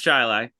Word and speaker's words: Chili: In Chile, yes, the town of Chili, pronounced Chili.